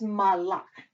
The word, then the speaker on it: malach: Okay, so that's malach. In this case, you do put the emphasis on the second syllable.